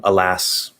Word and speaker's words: alas: would probably happen um alas okay so that's a schwa first alas ass so it's the a sound alas um and even though